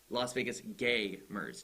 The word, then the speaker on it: Las Vegas Gaymers: It's Las Vegas Gaymers. G-A-Y.